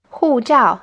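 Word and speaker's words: 护照: yeah i'll get it now hoo jiao it's word for passport both parts are in the fourth stone literally means you guys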